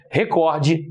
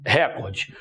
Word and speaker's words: recorde: Rubrica e não rúbrica, recorde e não recorde.